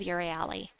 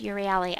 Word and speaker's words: Euryale: Supernova says, I remind myself how to pronounce her name by saying up your alley. I don't know if it's pronounced Euryale.